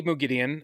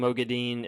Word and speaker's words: Moghedien: I say Moghedien at this point. And you may catch myself saying Moghedien at some point, just because it's like ever since I heard that the first time in the audiobook, because before Right. in my head I'd said Moghedien, but then I heard in the audiobook, it's like, oh dang it, I've been mispronouncing it, so I really took Right.